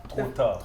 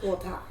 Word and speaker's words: Tota: Say it again. Tota. Tota. Tota. Tota. You have to get that in your throat.